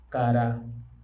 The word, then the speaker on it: cara: Cara c A r a con acento en la última cara.